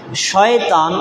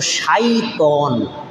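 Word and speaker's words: شيطان: আলোচনা করব ইনশাআল্লাহ আসুন শয়তান এটা হলো আমরা বাংলায় ব্যবহার করতে করতে বাংলা বানায় ফেলছি কিন্তু আসলে শব্দটা বাংলা না শব্দটা হলো আরবি শয়তান কিন্তু অরজিনাল শব্দটার উচ্চারণ হলো শাইতন শিন ইয়া ত আলিফ নুন শাইতন একবচন বহুবচনে শায়াতিন শয়তান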